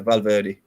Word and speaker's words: Valverde: Real Madrid, it is is it Valverde? How do you say it? Yeah, Valverde.